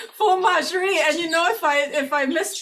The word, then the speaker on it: Fauxmagerie: Nope, FAUXMAGERIE, like faux. FAUXMAGERIE.